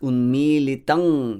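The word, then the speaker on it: unmīlitaṁ: Next, unmilitang yena. You could see that I didn't close my lips. It's not the M consonant here.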